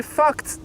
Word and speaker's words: fucked: Michael says, just say fucked. Don't say the D by itself.